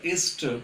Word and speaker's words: Esther: এই উচ্চারণটা ESTHER, উচ্চারণটা এস্টার করাই ভালো।